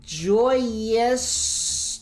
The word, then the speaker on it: Joyeuse: 3 copies of Durandal, 1 copy of Joyeuse. That's how you pronounce this.